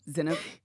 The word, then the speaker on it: Zainab: I keep saying Zaynab because Zaynab the comedian. Oh, okay. And I think Zaynab might have an I in it, but I think she spells it the same. So every time I see it, I say Zaynab, but it's Zainab. Yeah. Yep. The emphasis is on the wrong syllable.